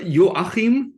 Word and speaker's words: Joachim: in the U.S sometimes your name is pronounced Joachim is it or or is it it's uh yo ahim it's a a yeah